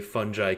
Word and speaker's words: fungi: We're combining the B vitamins, the minerals, the amino acids like taurine and L-theanine with the legendary fungi kingdom. Fungi or fungi? How's the correct way to pronounce that one, Richard?